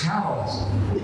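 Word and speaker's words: Calais: not Lester it's luster it's not C it's cows it's it's not uh charlot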